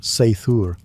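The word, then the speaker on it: seiðr: Sometimes it relied on magic, specifically a mysterious practice called cider, pronounced sthur, which was part sorcery, part spiritual therapy, and part my ex won't return my runes.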